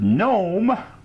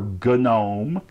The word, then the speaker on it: GNOME: It came with GNOME, or GNOME, depending on how you want to pronounce it, 3.2, and virtualization enhancements.